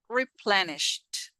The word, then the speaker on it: replenished: Replenished. Sht. Sht. That's the end sound. Sht. If this easy is mute, we don't pronounce it.